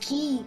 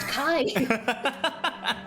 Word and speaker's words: Ki: It's pronounced Ki, not Kai.